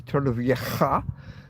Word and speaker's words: Torrevieja: In Torrevieja, it's actually not a K, it's a J-A, Torrevieja, is a, pronounced like Loch in Scotland, when you know, a lake, a Loch Ness, L-O-C-H. It's pronounced similar to that.